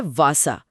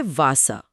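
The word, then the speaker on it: Wasser: German W का उच्चारण अंग्रेजी के वी जैसा होता है। अरे हां। मतलब व की ध्वनि जिसमें होंठ दांतों को छूते हैं। जैसे पानी के लिए शब्द है वासा। जिसे बोलेंगे वासा। वासा।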